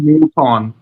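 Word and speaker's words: Moothon: সুতরাং এখন এই ডিরেক্টর কতটা হ্যান্ডেল করতে একটা সৌভিকদা একটু উচ্চারণ ভুল করেছে, সিনেমাটার নাম হচ্ছে মুথন। মুথুন এরকম কিছু আর কি।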